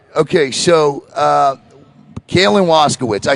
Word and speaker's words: Waszkiewicz: Okay, so Kaylin Waszkiewicz.